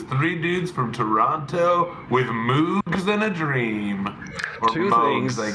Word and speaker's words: Moog: But nope, it was three dudes from Toronto with Moogs in a dream or I guess. That was one. It's pronounced Moog and two.